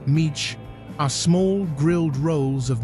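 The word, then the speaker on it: mici: Missy, pronounced Meech, are small grilled rolls of mixed meat seasoned with garlic, thyme, and baking soda.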